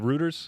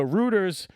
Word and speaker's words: Reuters: But how do you say the the the news publication Reuters uh Ruters Ruters? So Ruters publishes this mistakenly, right?